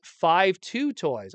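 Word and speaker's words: 52Toys: looks like mud uh it's pronounced 52 toys oh okay I see a five I see a two they're next to each other 52 uh play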